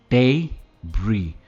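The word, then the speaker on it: debris: इसे मलबा कहते हैं हिंदी में, पर इसे क्या कहेंगे, डेब्री। ये डरबिस नहीं है या डेब्रिस नहीं है, इट इज डेब्री। डे पे इसका स्ट्रेस है, डेब्री।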